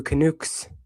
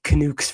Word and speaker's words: Canucks: So against the Vancouver Canucks or Canucks, however you say. Yeah, I say canukes for some reason. And I don't think that's the right way to pronounce it, but Flyers are playing them.